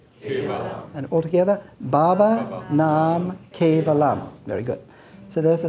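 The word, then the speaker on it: Baba Nam Kevalam: to pronounce it with me uh so it's pronounced babaa Nam nalam and all together Baba namam very good so there I said that means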